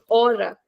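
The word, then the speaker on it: hora: opal or hospital similarly words like ora okay or here we don't pronounce the letter h so these kind of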